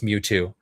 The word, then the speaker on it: Mewtwo: I love how he totally knows the pronunciation of the name too. It's Mewtwo. It's Mewtwo.